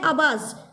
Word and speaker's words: abase: अगला है आबास। आबास मतलब होता है ह्यूमिलिएट या डिसग्रेस। ह्यूमिलिएट करना या डिसग्रेस करना, किसी को नीचे दिखाना, ठीक है। इसका स्पेलिंग होता है अबास, ABASE।